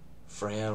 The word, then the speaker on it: Freyja: I'm talking about Freyja. If you include, like, if you're talking about how to spell it, F-R-E, for America's purposes, Y-J-A, otherwise F-R-E-J-A. Freya, regardless, is how you would say it.